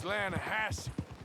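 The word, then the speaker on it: Lannahechee: The other day, I rode down to the Lanahatchee River. I caught some beautiful steelhead trout. You mean the Lanahatchee River? No. The Lanahatchee. It runs right near here. Yeah, but it's pronounced Lanahassee.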